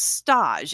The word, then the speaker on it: stage: Richie is sent to stage, is the way they pronounce it. It's spelled stage, but it's stage.